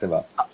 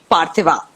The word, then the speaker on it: Parthiva: Okay, so Parthiva, I hope I'm pronouncing your name correctly. Yes, that's Right, right, Parthiva. Parthiva.